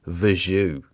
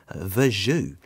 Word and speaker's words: Verjus: It's called Verjus. I know, it's spelt Verjus, V-E-R-J-U-S, Verjus.